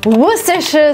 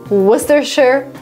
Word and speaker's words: Worcestershire: Worcestershire sauce. So funny. I can't even pronounce.